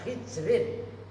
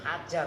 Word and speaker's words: hijrin: Apa bacanya hijrin? Bukan hajar.